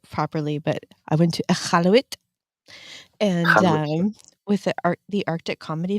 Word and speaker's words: Iqaluit: So, I got this hat when I went to, okay, I used to not say it properly, but I went to Iqaluit and, with the Arctic Comedy Festival, Oh, nice.